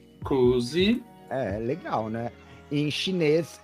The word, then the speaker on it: kuusi: Em finlandês é Kuusi. Kuusi.